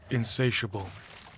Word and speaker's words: insatiable: Fle A giant mass of swollen flesh chowing down trying to satiate his insatiable hunger. I got to look this up now. Insatiable. It's pronounced insatiable.